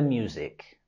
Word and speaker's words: music: had to face the music. Después de causar el accidente, él tuvo que enfrentar las consecuencias. En la palabra music, tenemos el sonido z, z. Music, music.